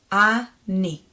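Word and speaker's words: אני: Then the second letter is the nun, our new letter, with e vowel, with a green vowel. So that's going to be ni. Ani.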